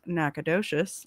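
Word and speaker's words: Nacogdoches: For the record, uh, this is pronounced Nacadocious and this is pronounced Bernie.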